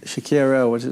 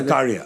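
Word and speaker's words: Sakariya: Shakira, how do you say? Sakaria.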